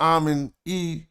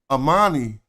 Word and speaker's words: Amani: They was so this is not Amin E. I learned that by studying other Nubian queens that this name is actually pronounced in the Nubian tradition Amani. So then it'd probably be a Amani Erdis or Amani Erdis.